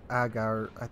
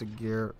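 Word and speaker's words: Ägir: Now, in this Agir match you're watching right now, or Agar, I'm pretty sure it's Agir.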